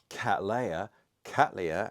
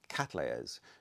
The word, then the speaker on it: Cattleya: And thank you to the lady who told me off about my pronunciation of Cattleya, as she pointed out, named after William Catley.